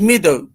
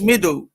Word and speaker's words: Madhu: But it gave me it's the way I pronounce it is meadow, or Madhu, yeah, M-A-D-H-U.